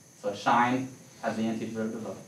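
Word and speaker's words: sinh: of my favorite because you pronounce it shine like when you see that you say shine anyway that's just a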